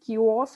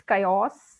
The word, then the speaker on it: chaos: pronounce this very well she said kiosks or something so it is chaos c-h-a-o-s chaos and that's also